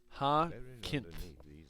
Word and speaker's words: Jacinth: Jacinth? Oh, Jacinth? You sure? You sure that's right? I don't know if that sounds right. Oh, Hakinth. Oh, Hakinth! The J is silent.